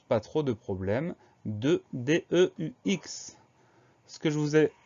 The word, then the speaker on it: deux: s'agit de l'adjectif numéral deux, ça veut dire du nombre de. Alors ce mot-là, le son E s'écrit EU, on a une lettre finale muette, c'est la lettre X, lettre finale qu'on retrouve